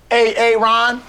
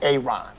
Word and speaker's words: Aaron: the first time I said a Aon because it's pronounced Aaron son of you done